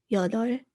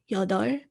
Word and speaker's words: 여덟: at number 8, 여덟, it's got 2 consonants in the bottom. It has a riul and a piup, but you don't really pronounce both of those because they're hard to pronounce together. So depending upon what the 2 ending consonants are, sometimes you pronounce the first one, sometimes you pronounce the second one. In 여덟, you pronounce the riul, so 여덟.